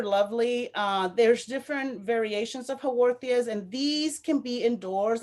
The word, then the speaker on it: Haworthia: So Haworthias, it's spelled Haworthia, Haworthias.